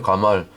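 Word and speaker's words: גמל: 가말 히브리어 발음으로 가말이에요. 발음 비슷하잖아요.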